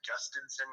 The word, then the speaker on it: Jhostynxon: His name is Justinson Garcia, but it's spelled. Okay. I can look at it. Yeah, his first name is spelled JHOSTYNXON, and then Garcia.